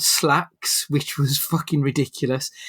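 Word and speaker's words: Slaxx: There was another film called Slacks, which was fucking ridiculous. It's spelled Slacks, S-L-A-X-X.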